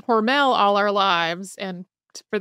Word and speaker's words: Hormel: name was originally pronounced horal to rhyme with normal and it's not totally clear when horal became Hormel um because we've both been saying hormell all our lives and